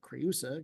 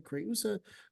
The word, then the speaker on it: Creusa: Speaking on hexameter and some other stuff, we've got the repetition of etherumque right after creusa. Creusa, we are going to separate it, that EU is not a diphthong here, right?